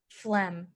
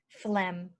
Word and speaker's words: phlegm: especially when you're sick so to remember it use this in it flamingos always have a lot of phlegm flamingos always have a